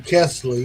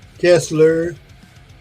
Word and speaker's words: Kesley: man my last name being Kesley yeah I've been called Kessler might have been called